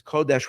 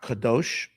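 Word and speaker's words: קודש: And the emphasis over here is Kodesh without a Vav. Not Kadosh. Like we say Kadosh, Kadosh, Kadosh. That's spelled with a Vav. But Kodesh.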